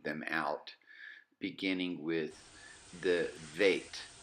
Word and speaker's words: veit: The veit, which is the bait without the dot, sounds like the vav. It's got an equivalent V sound in the English language.